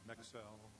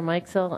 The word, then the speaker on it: Meixel: Mexel, I'm sure I've mispronounced your name, followed by Thomas Phillips. So I'm at 107 right now on my timer, so just FYI. Okay, very good. All right, my name is Meixel.